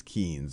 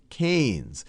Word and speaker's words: Keynes: So this right here is a picture of John Maynard Keynes, and I often mispronounce him as Keynes because that's how it's spelled, but it's John Maynard Keynes.